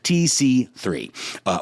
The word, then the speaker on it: TCCC: Anyone wanting the latest and greatest trauma medicine guidelines that the military has to offer should look up the most updated TCCC, graciously pronounced TC3, or Tactical Combat Casualty Guidelines.